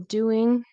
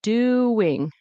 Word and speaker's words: doing: There's a W in between. Doing. Doing. I didn't know if I heard that or not. So it's not doing, it's doing. With a W, right?